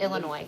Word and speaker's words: Illinois: The S on the end is silent. Thank you. I've never know. I I'm like, is it Illinois or is it Illinois? But Illinois.